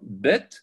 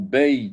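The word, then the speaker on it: בית: Bet, yod, tav. Bed, yod, tav. Ça s'écrit, ça se lit bet, bet, ou beit, si on veut, le yod.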